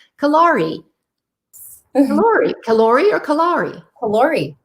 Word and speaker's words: Callori: Callori. You said it right. Yes. Like calorie, but in French.